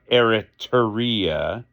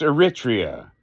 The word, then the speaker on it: Eritrea: to stop doing it it's not Eritrea it's not eritaria it's Eritrea now the reason I'm